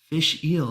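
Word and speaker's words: Fèis Ìle: wants to keep count fish eel that's kind of how you pronounce it it's the year's Isa Fest oh interesting okay fish fish eel very cool say you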